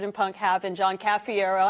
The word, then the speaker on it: Cafiero: your last name again you can remember how to properly pronounce My Name by making a combination of caffeine and Aerosmith caffiero those are two of